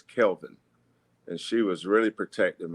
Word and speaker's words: Kelvin: name uh growing up a lot of people call me Kevin or Calvin my mother would always say his name is Kelvin and she was really